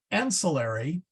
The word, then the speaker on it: ancillary: thing is is the English word and silly ancillary has its Accent on the first uh uh